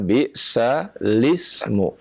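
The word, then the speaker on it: بِئْسَ الِاسْمُ: Tulisannya bisal ismu. Oh iya, betul. Iya ya. Tetapi cara membacanya bisalismu.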